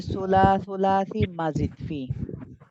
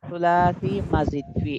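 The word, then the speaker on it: ثلاثي مزيد فيه: আর একটা হচ্ছে সুলাসি মাজিদ ফি। সুলাসি মাজিদ ফি, এগুলো উচ্চারণ ঠিক করবেন। অনেকে বলে সুলাসি মজিদ ফি, এই সমস্ত উচ্চারণগুলো করবেন না।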